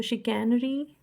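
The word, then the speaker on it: chicanery: तो शिकैनरी कैसे प्रोनाउंस करोगे आप, चिकन चिक, शिकैनरी चिक नारी, चिक नारी, शिकैनरी चिक नारी।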